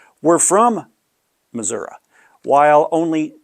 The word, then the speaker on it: Missouri: And the data set sort of supports this because 100% of the people who pronounced it Missourah were from Missouri, while only 2 people, or 20% of the people who said Missouri, were from the state originally.